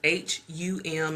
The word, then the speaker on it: Hum: So the chant for the opening the throat chakra is H-U-M, and I've also seen it spelled H-A-M. So, but either way, they're both pronounced the same way, which is hum, hum.